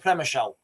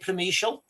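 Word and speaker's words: Przemyśl: Premishial I I think I'm pronouncing that right. Guys, can somebody tell me how to pronounce that word? P R Z M YL. I think you pronounce it prelial. Promeial. I think that's how you pronounce it.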